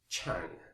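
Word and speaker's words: qiang: That's a tang, and the character here is pronounced chang, Q-I-A-N-G.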